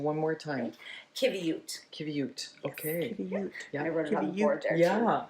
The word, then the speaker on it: qiviut: nice and all right so give me that pronunciation one more time kute kute okay I wrot yeah I I'll get